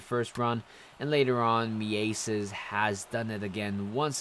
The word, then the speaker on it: Mieses: It turns out his name is actually Johan Mieses or something like that. It's not Mises.